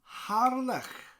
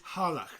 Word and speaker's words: Harlech: People say it in English, Harlech. They say it like that. Harlech. Oh, I'm going to Harlech. But in Welsh, it's Har with a rolling R and then a lech. Lech. With that CH sound, that sound.